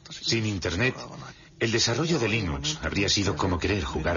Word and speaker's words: Linux: La primera pregunta de la categoría fácil es, ¿cómo se pronuncia Linux? Bueno, yo Linux lo pronuncio Linux. Sin embargo, si fuese Linux Thorbals, no hay duda de que lo pronunciaría Linux. Claro que si uno es de la costa oeste de los Estados Unidos, lo más seguro es que lo pronunciaría Linux. Pero a Linux Torbals le importa un bledo cómo pronunciéis Linux siempre y cuando lo utilicéis.